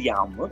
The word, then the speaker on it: yağmur: If you say yağmur, and if you can say yağmur, actually, and I'm sure you will say it, yeah. Yağmur. So can you please say that? Yağmur. So we didn't yes. use that G, soft G.